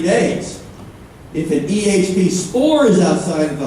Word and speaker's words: EHP: EHP. I used to say EH, but then George says it has to be EHP to rhyme with EMS.